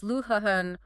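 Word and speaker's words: Luján: Pronounced Vasquez Luhan Coronato.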